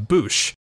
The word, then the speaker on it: Boushh: Fortunately for us, this justifies the U sound in the pronunciation of Boushh.